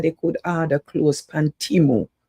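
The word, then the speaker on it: Temu: could order clothes pan Timo. That's how you pronounce it, Timo.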